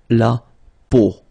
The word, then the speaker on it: peau: it, but then, so the sound that you will have to pronounce when you've got these three vowels combined together, it's the sound O. Okay, so really simple, O, okay, so you get la peau, okay, la peau.